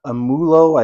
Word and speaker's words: Amoolo: that is produced by I believe it's pronounced amulo I think is the